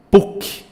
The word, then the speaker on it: PUC: PUC, PUC, eu pronuncio como um acrônimo, mas por ela ser até 3 letras, eu devo escrevê-la de letra maiúscula e está correto. COFINS, eu pronuncio como um